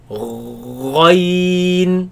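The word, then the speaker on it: غين: Ghain is from there, and we pronounce it similarly, but the sound is different. Let's pronounce it. Ghain, Ghain.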